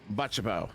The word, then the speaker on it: Butchibo: And I just straight up asked, I said, all right, how do you pronounce it? And he goes, Butchibo.